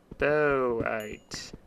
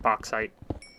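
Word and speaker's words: bauxite: That is boite. B A U X I T E. A U X makes an O sound.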